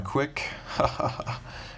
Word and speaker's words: Quik: pretty cool so real quick review on the quick it's spelled key UI k if you didn't see